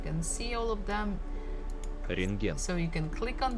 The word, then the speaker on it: Рентген: Рентген. Рентген. Рентген. Рентген. So you see there's a bukva T in the middle of the word, but actually we don't have to pronounce it.